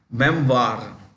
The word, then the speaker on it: memoir: do you pronounce this o i r is pronounced okay Memoir like Reservoir member is a collection